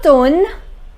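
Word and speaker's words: automne: which means winter low tone which means autumn here if I do not pronounce this M this is atoned the next one and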